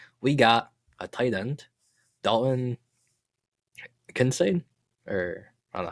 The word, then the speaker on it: Kincaid: We got a tight end, Dalton Kincaid, or I don't know how you say his name. Yeah. Kincaid.